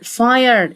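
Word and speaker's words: fire: سموك حريق يعني فاير فاير الاي لا تنطق تساعد بس الاي تقول اي فاير صوت يعني فويس الاي لا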